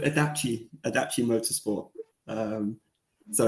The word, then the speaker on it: IDACI: asked the most um it's called adachi adaption Motorsport um so